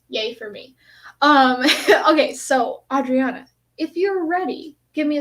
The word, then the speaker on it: Adriana: I know it's Adriana, yeah, it's funny because you're in Mexico, so the pronunciation there would be Adriana.